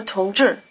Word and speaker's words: 同志: 同志， The first syllable is relatively easy, but try to give an extra explosiveness to the T as you repeat it. 同 The second syllable, 志, rhymes with 是. The tongue is curled back for the J sound and stays curled back through the long R sound.